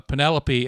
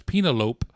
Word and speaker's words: Penelope: Uh, and then the joke about pronouncing uh Penelopey as Penalope came about when Jay and Kevin went to a screening of Carito's Way in 1993. Uh, and when uh Penelopey and Miller's name came up on the screen,